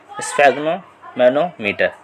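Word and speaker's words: sphygmomanometer: देखो इसकी प्रोनाउंसिएशन थोड़ी खतरनाक है, इसको पढ़ो स्फेग्नोमैनोमीटर, ठीक है, स्फेग्नोमैनोमीटर के नाम से जाना जाता है।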